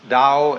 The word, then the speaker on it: Tao: principle of nature is called the dao tao pronounced dao in the mandarin in the cantonese dialect take